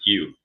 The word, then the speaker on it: ewe: Tim, it's you. EWE, you. You. I don't get it. That's how you say it.